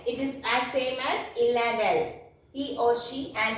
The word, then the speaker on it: il est: Il. A, that means E-S-T, il, that means E-S-T means is, L-A, E-S-T and we pronounce it as il-A.